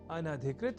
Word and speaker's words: अनधिकृत: पर हम जब न या अन्न और अधिकृत इन दो शब्दों से मिलकर बने अनधिकृत शब्द के अपने संप्रत्यय को दृढ़ कर लें तो संभवतः भूल से भी इस शब्द के उच्चारण और लेखन में अशुद्धि नहीं होगी। तो यह शब्द अनधिकृत इस रूप में ही है।